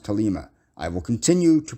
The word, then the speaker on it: Thelema: In Aquino, and I know everybody pronounces it Thelema. Thelema is not how you pronounce that word. That word is Greek. It's ancient Greek. It's pronounced Thelema.